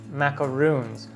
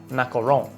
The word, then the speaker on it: macaron: Today, I'm going to show you how to make classic French macaroons, or the correct pronunciation is macaron, with actually one O.